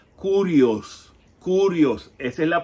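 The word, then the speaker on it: κύριος: a sorprender, no es Kyrios. De hecho, Kyrios no es koiné, no es parte del griego koinés. El griego koinés, lo que muchos dicen Kyrios, se pronuncia kurios.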